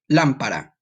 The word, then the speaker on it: lámpara: Lámpara. Very good. You see the word lamp with an accent over the A, and the ending is a little different.